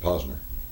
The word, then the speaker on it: Posner: there's a con saying everybody's pronouncing it Posner well he pronounces it pner he himself uhhuh okay uh what